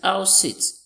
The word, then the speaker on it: house sit: But look at this, house sit. House sit. We have our stress on what? The first word.